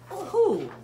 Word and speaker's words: who: Who? Who? Who? It's got a silent letter at the beginning.